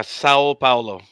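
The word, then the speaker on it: São Paulo: Is that how you pronounce that, Raj? Yeah, Sao Paulo.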